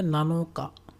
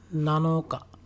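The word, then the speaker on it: 七日: 7 things এর ক্ষেত্রে উচ্চারণটা হবে নানাৎসু। তারপর যদি হয় 7th days of the month, তাহলে এটা হবে নানোকা, নানোকা।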